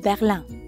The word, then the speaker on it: Berlin: berlin they'd say jabyta berlin berlin ends in i n which in french becomes uh another nasal sound bonjour je m'appelle